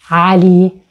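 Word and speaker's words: علي: It's a very popular Arabic masculine name and it ends with the long vowel E. In this case, it is pronounced as E, Ali.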